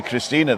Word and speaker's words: Christine: And why did we say Christina then, if it's Christine? Because I'm German. And Germans pronounce the E Yeah.